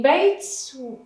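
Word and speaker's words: بيت: In bait, we pronounce the taa, bait.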